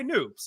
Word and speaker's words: Noops: by Alex, but you also go by Noops, and it rhymes with hoops.